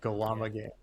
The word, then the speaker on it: Gllama Games: Gllama Games.